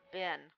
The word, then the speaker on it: bin: Then we have the short I sound in the word, believe it or not, bin. Bin. So that's an exception to the rule, and it sounds like the words fin, gin, pin, sin, tin, win.